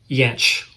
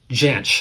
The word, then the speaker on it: Jansch: I believe the Scottish pronunciation is Jansch, and the English pronunciation is Jansch. So it could be either or. I think his family, I did a little research, and I think his family refers to it as Jansch, but he uses Jansch